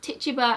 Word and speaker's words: Tituba: the Parises, and she instructs Samuel Paris's slaves, Tituba and John, to make something called a witch cake.